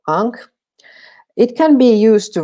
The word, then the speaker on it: ankh: used in writing so the sandal strap sign ankh which starts with an iron letter that we just pronounce ah so ang it can be used